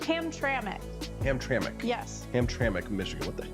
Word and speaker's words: Hamtramck: Is that how that's pronounced? Hamtramck. Hamtramck.